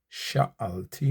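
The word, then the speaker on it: שָׁאַלְתִּי: kol yeme chayai achat sha'alti me'et Adonai otah avakesh shivti bevet Adonai kol yemei hayai. Two syllables here. Achat a chat or achat as some will pronounce. A chat. Sha al ti. Three syllables.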